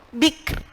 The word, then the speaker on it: bikr: Bikr. Nah, bikr. Bukan bikr. Nah, roknya harus tampak bikr. Nah, kalau jenengan bacanya bik, nah, roknya hilang, bukan rok tarkik lagi, malahan rok hilang gitu nggih.